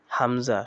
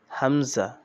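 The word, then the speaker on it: همزة: হামজা শক্ত ও পাতলা আওয়াজে, হামজা হামজা শক্ত হবে কিন্তু পাতলা হবে, হামজা।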